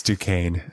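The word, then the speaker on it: Duquesne: what is his motive it's Duane du that's Duan there's an s in there it's du there's it's a like a French I'm going with duin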